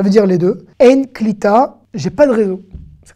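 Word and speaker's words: קליטה: Là, je ne vais pas dire kelita. Hein. Là, c'est klita. D'accord? Klita, c'est le fait d'intégrer ou de capter. Ça veut dire les deux. En klita, j'ai pas de réseau.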